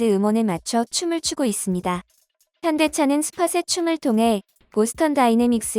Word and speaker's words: 현대: 댓글이 달리며 인기몰이 중입니다 해외에서 아직까지도 현다이 로 불리는 현대자동차는 제대로 된 명칭을 정정 하느라 에 를 먹어 왔는데요 bts 의 펜더 미나미가 아이오닉 cf 시리즈를 보고 현대 라고 발음을 교정 하며 고질적 이 어떤 현